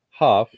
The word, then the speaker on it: Hough: And you got our host, Jordan Huff. That's spelled Hough. I bet y'all didn't think that's how it's pronounced.